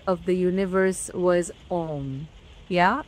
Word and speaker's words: Om: of the universe was Om. Yeah, we have to pronounce it as Aum, and in a way, Aum.